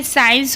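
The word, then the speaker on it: science: उसके बाद देखिए सी कहाँ पर साइलेंट होता है, एस के बाद कहीं भी सी आएगा तो सी को नहीं पढ़ते हैं। जैसे कि आप देख रहे हैं साइंस हो गया, सीन हो गया।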